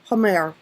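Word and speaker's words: Hamr: Hamar, pronounced Hamer, represents the astral body.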